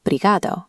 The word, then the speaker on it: obrigado: The clear obrigado from your app is pronounced closer to brigado in a Lisbon cafe.